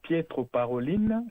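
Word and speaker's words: Pietro Parolin: Vous l'avez évoqué le cardinal Piettre Paroline, c'est comme ça qu'on prononce son nom.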